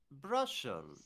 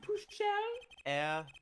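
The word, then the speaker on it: Brüssel: It's Brussel, yeah? I think Clavier's tired of his shit, too. It's pronounced Bruchel. Brussel? Bruchel.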